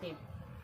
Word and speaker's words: thief: TH से था, आई से ई और एफ से फा। ई जो आपका है साइलेंट बैठा हुआ है, ई जो क्या है साइलेंट बैठा हुआ है।